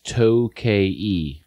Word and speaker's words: Tokaji: But the pronunciation is what looks like Tokaji is Tokaji. Oh. Is the way it's pronounced, okay.